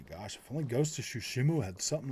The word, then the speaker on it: Tsushima: I love how you pronounce Ghost of Tsushima.